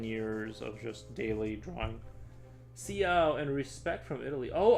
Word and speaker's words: ciao: C is pronounced like ch sometimes.